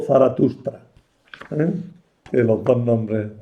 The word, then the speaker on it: Zaratustra: Sin embargo, el nombre que parece más propio, más ajustado a la pronunciación persa era Zaratustra.